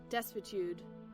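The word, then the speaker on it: desuetude: Duitude. I need to look that up. Disitude in the state of disuse. Okay, I'm going to have see what Google's pronunciation is. Desitude.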